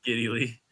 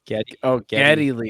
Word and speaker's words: Geddy Lee: Giddy Lee. What I said? Did I say it wrong? So what was his name? Giddy Lee. Geddy Lee.